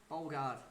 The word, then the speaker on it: Bogard: Is it Bashar Bogard? Alright then, fair enough. Nice one. Thank you for whoever told me that. Bogard. Right, well, Lacti, welcome, mate. Thank you for the pronunciation correction.